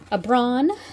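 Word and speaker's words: Aibreán: Abbron, that's how you say it in Irish.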